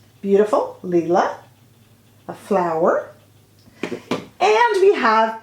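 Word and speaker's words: Lilas: lila that is spelled l-i-l-a-s or lila i should say but you do not pronounce the s so there is leela beautiful leela a flower and we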